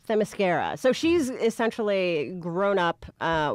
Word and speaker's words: Themyscira: Themyscira. Themyscira.